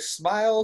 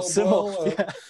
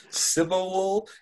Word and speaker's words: SYML: You actually pronounced it correctly because people go like, smile, so wild. No, Simmel. Simmel. It's a Simmel.